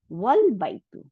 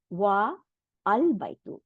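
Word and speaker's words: وَالْبَيْتُ: house is pronounced as wal baitu and not wa al baitu। এখানে ওয়া বলে আবার আল বাইতু বলা হয়নি, তাই না? ওয়াল বাইতু বলছে, ওয়াওটা গিয়ে লামকে ধরে ফেলছে, তাই না?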